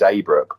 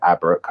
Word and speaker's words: Abrook: my surname as well um is which is a brook but i get aberrake a lot which is no big deal um